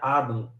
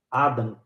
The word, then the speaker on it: Adam: pronuncia Adam tá Adão se pronuncia Adam Adam e o nome Adam